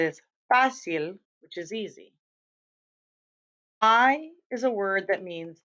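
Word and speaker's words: hay: myself right here that this is pronounced like the letter I or like your eye in your head, okay? Because you're going to want to say that it looks like the thing that horses eat, but that's not how you pronounce it in Spanish.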